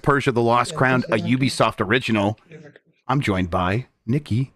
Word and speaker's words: Ubisoft: pronounce it so it's Ubisoft with like CU It's like got that Y sound and sometimes Sada I